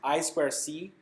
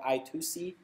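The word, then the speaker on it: I²C: i square c pronounced i square c um sometimes called i2c but less often it's really most of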